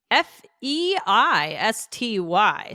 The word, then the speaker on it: feisty: But if they don't, how do we spell it? Fei S Ty.